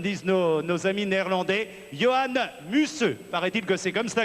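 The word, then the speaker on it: Johan Museeuw: les Champs-Élysées comme disent nos nos amis néerlandais Johann musseux paraît-il que c'est comme ça que ça se prononce Johann musseux qui est le sprinter nous avons également Sami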